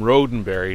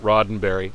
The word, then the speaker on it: Roddenberry: a trekkie one time who insisted that gene roddenberry pronounced his name rodenberry not roddenberry i have no idea